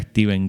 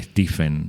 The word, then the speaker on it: Stephen: E no, lo primero que se te ocurre es decirle Stephen. Yo me enteré que se llamaba Steven a partir de escuchar entrevistos en realidad, ¿no?